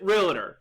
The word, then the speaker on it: Realtor: And I know many of you pronounce it Realtor. I pronounce it Realtor. And if it annoys you that I pronounce it wrong, well, that just warms my heart. And I'll continue to pronounce it incorrectly because that's my accent, tough luck.